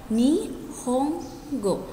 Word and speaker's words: Nihongo: go dalam bahasa Jepang huruf n di tengah Ini dibaca M maka Nihongo dibuat Nihongo dibaca nih home go nih Om sendiri artinya